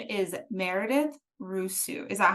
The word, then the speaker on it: Rusu: have a beloved author her name is Meredith Russo is that how you pronounce it it is you got it right